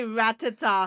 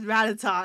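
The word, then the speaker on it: Rattata: They totally used to say Ratata when we were kids. That's why I always pronounce it as Ratata and not Ratata, even though it makes more sense to pronounce it as Ratata.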